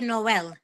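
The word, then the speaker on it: Noël: yes I think it's the same as French Noel no say that again Noel Noel Noel yes yes Noel and is spelled j o y like joy and then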